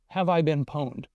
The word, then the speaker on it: Have I Been Pwned: Here's another freebie I'll give you, is a thing called a website called Have I Been Pwned, and that's how it's pronounced.